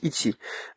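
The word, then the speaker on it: いち: sais pas moi le le caractère 1 par exemple le plus basique en chinois ça se prononce I et puis vous l'écrivez de la même manière en japonais ça prononce iti euh c'est pas possible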